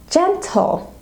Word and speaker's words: gentle: Another word that starts with G but is pronounced with a J sound is gentle. Gentle. So gentle is a G followed by an E, therefore we give the J sound.